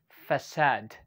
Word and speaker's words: facade: okay but actually it is pronounced as facade yeah you heard it right okay facade one more time